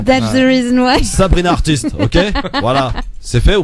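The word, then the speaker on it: Heartiste: C'est marrant, en plus je viens juste de réaliser que tu prononces pas correctement mon nom de plume, Christophe. Qu'est-ce qu'il y a? C'est artiste.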